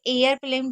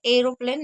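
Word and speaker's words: aeroplane: एयर प्लेन इसे एयर प्लेन पढ़ेंगे। एरोप्लेन नहीं पढ़ेंगे क्योंकि यहां पर ए को ए पढ़ रहे हैं।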